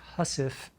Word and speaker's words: housewife: as a housewife or as it's pronounced hussif the mistress as a